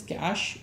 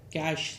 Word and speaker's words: cache: is a cach memory located is it is pronunciation is Cash okay like cash c a s it is pronounced as cash